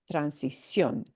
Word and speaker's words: transición: So to signal to the reader we're breaking a standard rule, we show where you do indeed punch the word. Transición, transición.